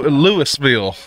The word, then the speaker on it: Louisville: like people saying Lou Louisville it's Louisville Louisville it's Louisville people Louisville it's not Louisville Louisville Louisville Louisville the proper way to say Louisville is Louisville not Louis I've got a daughter